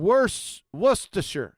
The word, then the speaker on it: Worcestershire: No, the R in Worcestershire. There's an R in that monkey right here. That one. That's not It's pronounced. silent. It's silent. You betcha.